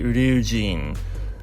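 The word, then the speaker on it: Ryujin: not get tongue-tied here it's actually review gene which fun fact in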